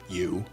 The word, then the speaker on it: EU: James' AI, which was named U, spelled EU, but pronounced U, had now become more than a chatbot.